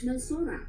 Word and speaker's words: Melchora: Melchora, which in Tagalog ay pronounced as Melsora.